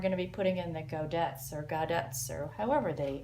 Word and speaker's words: godet: to put in the I looked it up goddess or godus two possible pronunciations neither of which was